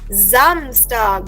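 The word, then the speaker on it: Samstag: सो एस in German gives the sound of ji. Correct. So this word will be रेड एज जमस्टग।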